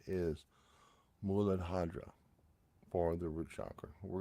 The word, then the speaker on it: mudra: issues now my Sanskrit is horrible but the pronunciation is madra for the root Shakra we're going to keep